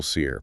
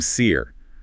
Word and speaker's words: Sear: And his last name, Sear, sounds like seer, as in a prophet or an oracle who is cursed to see the future and see the dead.